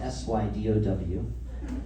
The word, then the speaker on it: Sydow: It's a Sydow guitar, spelled S-Y-D-O-W, written here and here. My last name is Sydow, spelled S-Y-D-O-W. They actually pronounce it Sydow, but they pronounce it wrong.